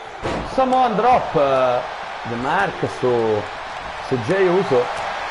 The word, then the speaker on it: Jey Uso: Qui bisogna fare un po' attenzione, perché Jey Briscoe e Jey Uso si scrivono in maniera diversa, ma si pronunciano uguale.